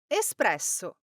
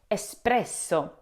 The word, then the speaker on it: espresso: The E S at the beginning should sound like the start of escape. A clean S, not X. The P follows directly, so the start should be smooth and quick.